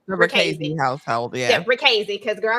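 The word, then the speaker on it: Richese: It's Ricchese. Okay. Ricchese. The author said he don't care how you pronounce it, but it's one of them.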